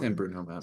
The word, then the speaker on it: San Bruno Mountain: San Bruno Mountain.